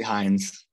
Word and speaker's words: Hinds: your last name correctly hins heinz it's actually heinz fines okay i apologize